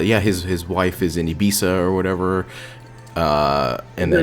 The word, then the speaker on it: Ibiza: him are going to get what's coming it's pronounced ibiza which i i had a i had like